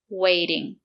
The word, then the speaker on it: waiting: Waiting. The letter T is between two vowels.